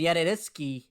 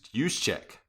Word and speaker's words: Juszczyk: And Yediditsky, their fullback, recovered and got down to the 2. What a terrible pronunciation of that name for you. I can't say names. I know. It's Juszczyk. Oh, Juszczyk.